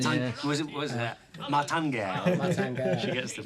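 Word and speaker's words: Martin Guerre: Martin Gare. She gets the pronunciation right.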